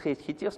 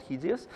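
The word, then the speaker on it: HATEOAS: of application state hts there is no uh standard how to pro pronounce he tears most people just hate hits not hideous hideous so it's a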